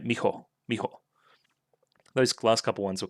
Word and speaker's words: Miho: Advice is saying miho, naturally, is breathe out the ho instead of blowing it out. So I'm trying it now. Mijo, like just trying to make it like one syllable almost, right?